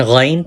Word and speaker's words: Ghain: And Ghain pronounced from upper part of throat. Ghain.